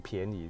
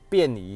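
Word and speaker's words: 便宜: 便宜啊，我那时候把它念成便宜，人家讲说哦靠行比较便宜，讲错了，便宜形式啊，便宜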